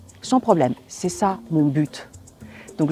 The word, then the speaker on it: but: problème c'est ça mon but donc je finis ma phrase avec le mot but là je vais le prononcer mais si je dis